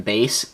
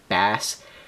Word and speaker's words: Bass: And before anybody yells at me for calling him Base and not Bass, look up the history of Mega Man. It's spelled Bass, but Mega Man, the whole point of Rockman Mega Man was to be music related.